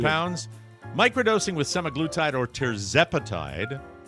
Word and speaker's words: tirzepatide: Microdosing with semaglutide or tirzepatide, pronounced it the right way finally, might just be the game changer you've been looking for.